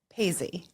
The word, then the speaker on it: Paizzi: Paisy.